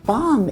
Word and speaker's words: balm: parang katunog niya ay balm para sa akin. Bomb OK, ang balm ay isang krema na nilalagyan mo sa iyong balat at mabango siya. Bigkasin niyo 'balm' Balm .